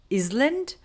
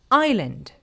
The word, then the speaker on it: island: you know this, but even higher level students may pronounce it as island, but it is actually pronounced island. Just like this word here is pronounced as isle. As you know, we do not like to pronounce some sounds in English. In this case, we do not say s sound and we just skip it like aisle.